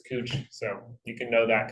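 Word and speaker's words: Couch Street: downtown called cooch Street spelled couch c-o-u-c-h it's pronounced cooch you say couch people will tell you it's cooch so you can know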